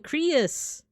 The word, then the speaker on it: Creus: Rhymes with Prius. Oh, Creus.